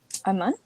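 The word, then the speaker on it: אמן: So you have Ah, Ma, and Na. Do you recognize any Hebrew word from these letters? Aman? Aman, right?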